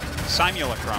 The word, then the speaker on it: simulacrum: Sim Eula Pro. Am I doing it right? You say it, Artosis. Mercalames. Simulacrum. Simulacrum. Simula. That's it. Crumb. That's the right way to say it. Simulacrum.